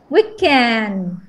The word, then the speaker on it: weekend: Weekend. Wow, weekend, the stress on the first syllable, really?